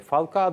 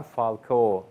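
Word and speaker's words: Falcao: değil feguli ve birkaç oyuncu daha var Galatasaray falka da falko'nun falka onun da maalesef halkayı bir türlü doğru telaffuz eder ettim ve sinir hatırladım geldiğinden beri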